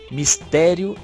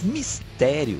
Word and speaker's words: mistério: Mas mistério, se eu separo como mistério, ela vira o quê? Uma proparoxítona. E na verdade, ela não é. Ela é uma paroxítona, é mistério. Lembrando que a paroxítona, a sílaba tônica é a penúltima. No caso do mistério, coincidiu em sendo a do meio, né?